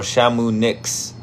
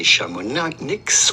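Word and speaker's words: Chamonix: Shamuni or Shamunix. Maybe I could have Google say it for me. Let me see. H is silent. So do not say shamonics or shamonik, but rather simply shami.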